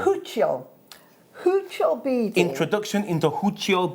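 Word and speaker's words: Huichol: How do you pronounce this? Huchiol. Huchiol.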